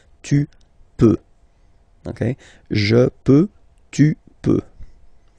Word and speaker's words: peux: Final X not pronounced here, okay? So you've got X, but you don't pronounce it, so basically you get the sound peut, je peux, okay, so I can, je peux, okay. Then tu peux, same pronunciation and same spelling or writing, okay, P-E-U-X, okay, don't pronounce the final X.